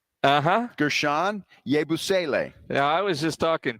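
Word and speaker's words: Guerschon Yabusele: It is uh it's pronounced Gershan Yabusle. Uh-huh. Gershan Yabusle.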